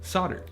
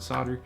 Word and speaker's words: solder: a metal alloy called solder and by the way yes I'm aware that most other countries pronounce the L in the word solder for whatever reason we decided not to in the United States wasn't my idea anyway